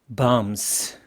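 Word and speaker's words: bombs: 폭탄들에 대해서는 아는게 없습니다 barms b는 묵음입니다 바람이 나지 않고요 다음스 그게 바로 explusives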